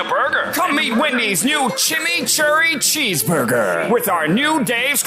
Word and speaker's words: chimichurri: Chimichurri. That's how you pronounce it. Let it roll off your tongue.